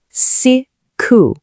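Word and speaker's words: siku: Our third vowel is I, and it's always pronounced like the E in si. Simple, right? Let's try it with the word for day. Si-ku.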